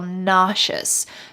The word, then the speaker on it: nauseous: ugh now i feel nauseous notice the pronunciation here the s in the middle sounds like nauseous nauseous i hope you